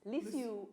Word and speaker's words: Lisieux: Lisieux, or the way it's pronounced, Lisieux Opera House hosted 2,292 plants to a great